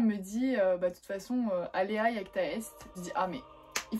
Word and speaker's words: alea iacta est: Donc alea iacta est, alors en français généralement quand on parle pas latin on dit alea jacta est parce que iacta ça s'écrit avec un J